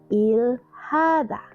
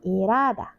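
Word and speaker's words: 일하다: Jadi kalau dilafalkan persuku kata itu ilhaza tapi kalau dibaca sekaligus jadi irada ya. Jadi huruf hit-nya ini melemah dan melebur gitu ya.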